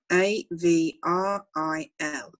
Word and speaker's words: avril: mass m-a-r-s mass next like the singer avril lavigne a v r i l avril every and then we